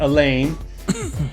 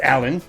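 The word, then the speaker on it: Alain: It's not Elaine. Uh, it's Allan.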